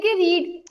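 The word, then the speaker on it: read: बाय द air class कि रीड देखें रीड रेड रेड शायद आपको याद हो स्पेलिंग्स आर सेम बट जब हम उसको सेकंड थर्ड फॉर्म में यूज करेंगे इस वर्ब को जो जो है रीड तो स्पेलिंग्स वही रहेंगे लेकिन रेड हो जाएगा ठीक है आई एम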